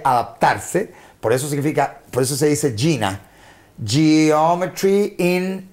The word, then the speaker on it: GINA: valioso, que se llama, lo voy a decir en español, G de gato, I, N-A, Gina, se escribe Gina, y que es una sigla, G-I-N-A, y que básicamente, que se transforma.